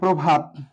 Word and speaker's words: প্রভাত: এখানে লিখতে পারি প্রভাত, প্রভাত। প্রভাত শব্দটার উচ্চারণ কি হবে, এখানে পয়র ফলা, অর্থাৎ এখানে অ আছে, প্র অ প্রভাত, কিন্তু উচ্চারণ হবে প্রভাত, প্রভাত, প্রভাত।